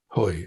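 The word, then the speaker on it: Hui: And I'm reading Angela Huey's book, Hoy, I think it's pronounced, who is a fascinating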